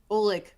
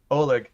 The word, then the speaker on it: Ollig: Nick and then yeah well how do you say it ulick Oleg oligarchy oh look oh like I think oligarchy oh yeah unless there's